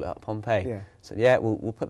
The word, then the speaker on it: Pohnpei: did you happen upon pompeii which is spelt uh we must point out um p-o-h-n-p-e-i but it's a very